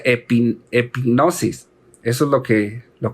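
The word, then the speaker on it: ἐπίγνωσις: superior profundo esta palabra en griego es se pronuncia epping hipnosis eso es lo que lo que significa epic gnosis es un conocimiento hermanos del cual nos habla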